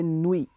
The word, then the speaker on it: nuit: If you wanna say night, we will say nuit, Nuit, because we will not pronounce T at the end.